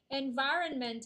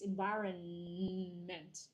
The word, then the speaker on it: environment: So it's environment, not environment. Okay, you pronounce the N, then you will remember there's an N there.